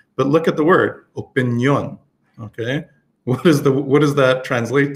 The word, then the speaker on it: opinión: So we say in English, opinion, but in Espanol, you can see where they have the accent on the O. So whenever you see an accent, you have to stress that part of the word.